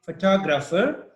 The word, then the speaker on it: photographer: six number six says the stress is on the first syllable in photograph the second in photographer and the third in photographic okay so again the